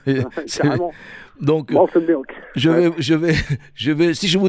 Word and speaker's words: Malted Milk: Alors Arnaud, donc Fradin du groupe Malted Milk, moi je vais le prononcer quand même à l'anglaise ou à l'américaine. Bah oui, carrément. Donc Malted Milk.